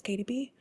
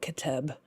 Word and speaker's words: KDB: I think it's funny how some people online get it immediately and they know that it's KDB, but other people like literally will think I'm like Kateb, and they will pronounce it like that for a really long time, and they have that in their heads.